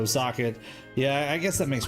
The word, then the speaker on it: Zokket: Now that I think about it, it might be pronounced simply similar to socket, just because it makes sense. See, Zokket sounds like a circuit to me, but I can see there's no R in it, so Zokket.